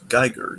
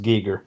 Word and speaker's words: Giger: true I saw was like I think it's Gyer isn't it technically it's pronounced technically he prefer to be pronounced Giger yeah I Giger yeah wow I did not